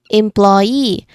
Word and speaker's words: employee: We stress on the final syllable. That's the rule. Say for example here employee. Again employee. So our stress syllable is e.